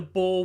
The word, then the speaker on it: Boer: Yeah, actually, Boer as in like year of the boar, or like BOER.